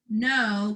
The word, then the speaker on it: know: fill that in now you know careful that's a silent k finger spaces all out